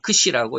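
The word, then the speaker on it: ξ: 그 다음에, 이 X자 같은 게 있는데, 이것도 물론 X인데, 이제 헬라어로는 크시라고 읽습니다.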